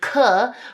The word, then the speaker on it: danke: And then an 'e' at the ends of words like in 'danke', (dahnkuh) right. Spelled like this. We have to say that 'e'.